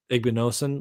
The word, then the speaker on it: Igbinosun: Igbinosun.